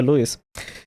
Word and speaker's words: Lewis: Así que Lewis, a veces le digo Lewis, pero se pronuncia Lewis, tiene razón.